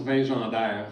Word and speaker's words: Vingendaire: Alors, en fait, mon nom de famille, ça se prononce Vingendaire, fait qu'une petite nuance à apporter.